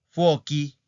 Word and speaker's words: fuochi: Entonces, esas palabras hacen el plural con fuochi, fuochi y laghi.